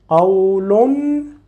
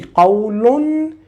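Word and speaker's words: قَوْلٌ: So this word, you will pronounce it with tanween, qawlun, and you need to read the following word. So you will say qawlun in case of reading it with the following word. You will pronounce in, qawlun, n.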